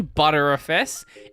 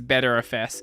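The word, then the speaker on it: Btrfs: Is it pronounced ButterFS or BetterFS? I say ButterFS, and the ButterFS users keep telling me it's BetterFS.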